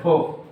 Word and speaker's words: folk: बुजुर्ग लोग सुनाते हैं, यहाँ लिख देते हैं फोक, FOLK, इसमें L साइलेंट हो जाएगा, फोकलोर मतलब लोक कथा, फोकलोर मतलब लोक कथा।